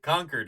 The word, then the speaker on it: Concord: Richmond Premont oh you can tell this person not from the Bay Area because how did he pronounce it like DJ run that back of San Francisco and Oakland with original termin in Concord oh oh conquered conquered is how we say it conquered Concord oh boy uh-uh uhuh